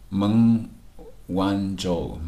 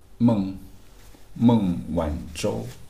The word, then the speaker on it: Meng Wanzhou: Meng WanZhou. Okay, her Chinese name is Meng WanZhou. Meng WanZhou 还是孟晚舟? I think it's Meng WanZhou. It's have the curl tongue pronunciation.